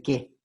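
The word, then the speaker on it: καί: la conjunción que como aquí se escribe kyle pero se le que por el diptongo la y el artículo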